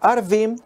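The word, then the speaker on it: ערבים: letras tienen diferente pronunciación pueden pronunciarse orvin y significan cuervos cuando se pronuncia harbín significan árabes de qué trata esto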